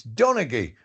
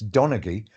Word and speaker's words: Donaghy: So they changed it with a hard G. So it's Donnagy and nobody can spell it.